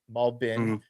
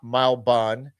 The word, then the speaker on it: Malbin: Shout out to And if you if you recognize how Isaac is saying Malbin, Malbin, right? Malbin, not Malban. Uh, Isaac says it correctly.